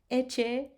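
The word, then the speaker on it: ecce: So two C's together, you will pronounce ch.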